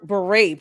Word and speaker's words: beret: Not when you can't pronounce the word beret properly. Beret. Bureau.